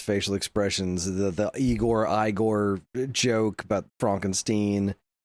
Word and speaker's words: Igor: No, it's pronounced Igore.